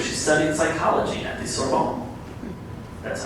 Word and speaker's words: Sorbonne: In her early 20s, she moved to Paris, France, where she studied psychology at the Sorbonne. That's how it's pronounced.